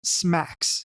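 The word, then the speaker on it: SMACSS: Now let's take a look at the scalable and modular architecture for CSS, pronounced SMACS.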